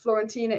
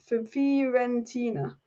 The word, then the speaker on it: Fiorentina: And Alice Amrabat's club is not pronounced Florentina; it's pronounced Fiorentina. Fiorentina, is it?